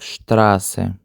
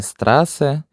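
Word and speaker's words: Straße: І це слово вимовляється як штрасе. Чому штрасе, а не страсе?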